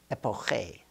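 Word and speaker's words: epoché: The ancient Greeks called it epiki, epoche, in their pronunciation, meaning to suspend.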